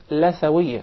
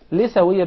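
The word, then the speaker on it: لثوية: Some people will call it Lathawiyya. Rather, in Arabic it is called Lithawiyya because we call the gum Litha. Yes. So that's why it is proper to say Lithawiyya.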